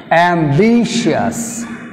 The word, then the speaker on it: ambitious: are almost like this universe would cm second syllable ambitious and vicious be shears cs1 b2 second